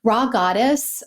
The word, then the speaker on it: Rha Goddess: Raw Goddess, and that's spelled RHA Goddess, recently published a book called The Calling.